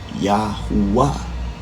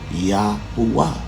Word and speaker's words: Yahuwah: associated with that letter would be pronounced oo in its prime conveyance, being congruent with the root of the letter U, or the sound oo.